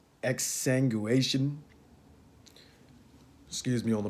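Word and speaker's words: exsanguination: for me to pronounce this word here x exsanguation excuse me on the pronunciation there but it's e x s a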